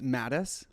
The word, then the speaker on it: Matthies: he's so freaking cute how do you say your last name uh it's mattis we were both wrong yeah i know i